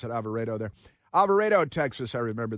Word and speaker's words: Alvarado: They call it, it's spelled Alvarado, but they pronounce it Alvarado there.